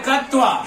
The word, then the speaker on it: क्त्वा: पठ प्लस अत्वा लिखाता है कत्वा, लेकिन का हो जाता है साइलेंट, वहां उसकी संज्ञा हो जाती है, जुड़ जाते हैं और पढ़ा जाता है अत्वा।